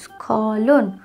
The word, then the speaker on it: স্খলন: হচ্ছে স্খলুন দন্তের সয় খ যুক্ত ল দন্তন্য স্খলন উচ্চারণটা হচ্ছে স্খলন পরের শব্দ দন্তস যোগ ত দন্তস